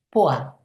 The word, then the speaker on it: pois: Em francês a gente escreve ervilha com p O I S, ou seja, pois, mas a gente pronuncia poá como o nome daquela cidade.